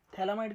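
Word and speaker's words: phthalimide: पहला first DDT second थैलामाइड थैलामाइड की spelling P से चालू होती है। पी साइलेंट होता है।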